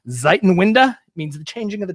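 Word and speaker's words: Zeitenwende: there's a German term I looked up the pronunciation ziton winda means the changing of the times so I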